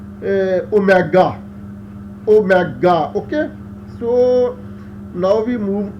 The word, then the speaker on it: omega: only to ensure that this W-like symbol, that is oscillation angular frequency, is pronounced as omega.